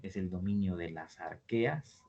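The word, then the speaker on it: Archaea: el dominio de las arqueas esto se pronuncia arquea aunque se escriba así con che porque esto está escrito en latín y en latín la h se pronuncia como ka esto es arqueo y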